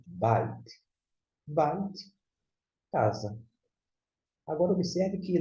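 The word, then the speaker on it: בית: B com A, ba. Com I, bai. E aqui, som de T. Você pronuncia bite.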